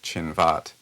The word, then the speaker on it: Chinvat: It was a bridge called Shinvat. The bridge is called Chinvat, and this is a sort of bridge of judgment.